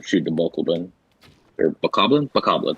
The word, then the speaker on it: Bokoblin: Bokoblin, that's how you say that thing.